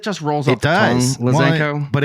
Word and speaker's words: Lazenko: So what is the It's Lazenko. Zen not Zank. Like it's like of people say Zank it cuz it just rolls off the tongue Lazenko.